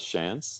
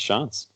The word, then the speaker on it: Shantz: Yeah, most people pronounce it as Shantz, like just if you read my name, but it's pronounced Shantz.